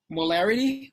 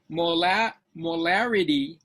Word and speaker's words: molarity: Now these two can be different, can be confused because molarity is spelled with an R. Okay. Molality is spelled with an L.